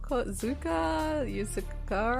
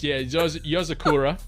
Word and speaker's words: Yozakura: Yuzakura. I'm gonna give that to you. It's Yozakura.